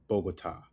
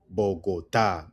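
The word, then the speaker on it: Bogotá: Cafe is pronounced cafe, which is coffee. Bogota. Bogotaa. That's a city. Bogotaa.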